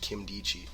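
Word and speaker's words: Nkemdiche: spelled n ke m di CH e but pronounced Kim D G those are the consensus for the most part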